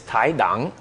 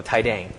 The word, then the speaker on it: Tai Dang: Well, you know, my name is a Chinese last name, so like true pronunciation is Tai Dang, Dang? but everyone's Dang, so Tai Dang. So I'm fine with that too.